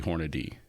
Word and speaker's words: Hornady: It's actually Hornady. Hornady. Okay. Yeah. According to this, simply pronounced Hornady.